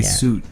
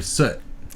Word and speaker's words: soot: to the burners okay you say suit that they're soot soot that's how you pronounce that so and you know